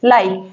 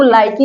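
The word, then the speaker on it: like: है यहां पर देखिए ई लास्ट में आया इसका कोई साउंड नहीं निकल रहा है इसका उच्चारण नहीं हो रहा है देखिए यहां पर आप इसको लाइकी नहीं कह सकते लाइक कहेंगे ठीक है पसंद करना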